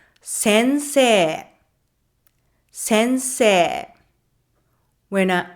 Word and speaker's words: sensei: You might try to say it as sensei. Sensei. But in everyday conversation, it's a long e like sensei.